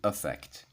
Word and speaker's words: affect: Yeah, Americans basically use the same pronunciation for both words whereas British pronunciation might be a little bit more like /i-fect/ and /uh-fect/. Now, what do you need to